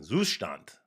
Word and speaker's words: Zustand: on Wednesday was on zustand zustand Zant trying to get that pronunciation right it's right in my head but it's not right when it comes out of my mouth for some reason Zant there you go I think that's about right um anyway it zon